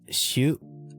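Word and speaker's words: しょ: This one is shoot or shoot, pronounced shoot, and this is syo, which is pronounced sho.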